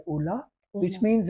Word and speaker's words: Ulaa: So we have even introduced a latest browser called Ola, which Mm-hmm.